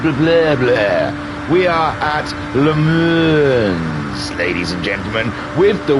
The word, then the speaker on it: Le Mans: But my wife pointed out it drives her mad in the background when she hears me saying Le Mans. It's Le Mans. So she has put me on the right path, and I have spent the afternoon learning the right pronunciation of this track.